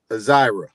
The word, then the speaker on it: Azira: Azira. Is that correct? That's correct. Yeah, that's correct. That's how you pronounce it.